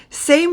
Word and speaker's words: Saint: know in english you say saint but in french you do not say the t it is sa and then again for